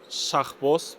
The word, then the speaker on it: Shakhboz: My name is Shakhboz, but for Japanese people, I usually say Shaha. It's easier to pronounce.